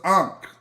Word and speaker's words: ankh: It's an ankh. But you probably don't notice that we're making 3 sounds when we say ankh.